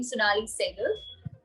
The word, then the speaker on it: Sonnalli Seygall: So yeah, it's pronounced pretty much the same, Sonnalli Seygall.